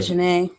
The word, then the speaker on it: Azhine: I usually pronounce it wrong on purpose. But Azhine.